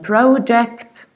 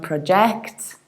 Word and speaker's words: project: start with our keyword which is not project not projects but in british accent we say projects project i have short or pro and then jacked with a project however it might also